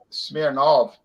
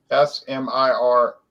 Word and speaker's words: Smirnov: the united states and they changed the name to of instead of ov it was s-m-i-r-n-o-v smirnov they changed smearing off that that's what they